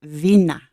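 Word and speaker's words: Binah: empress is represented by the Bina or you can pronounce it Vina which also corresponds with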